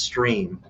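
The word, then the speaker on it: Strimm: our tv channel and it's uh s-t-r-i-m-m it's pronounced stream but it's it looks like strip and it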